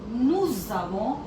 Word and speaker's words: nous avons: il a, elle a, nous avons. So we'll identify one thing here. Whenever there is a consonant and a vowel, so the sound merges. So here the pronunciation will be nous avons.